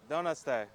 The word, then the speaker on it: Donutste: Okay, that's what we thought, but I didn't want to say it and pronounce it wrong. Donutste.